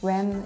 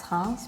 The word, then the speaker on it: Reims: Some cities, like Reims, was like Rem, it's Reims, but you know, we understand